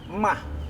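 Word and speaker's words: maag: Kalau kedikitan, ntar mag. Mah. Mag. Ma-ag. Nah, Tapi dibacanya mah. mag.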